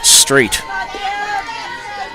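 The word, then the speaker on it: Stejc: putouts for left fielder Avery Weinstock and Adeline straight the batter with two outs that's how you pronounce the name I will spell it st e JC pronounced straight good hitter here's the pitch right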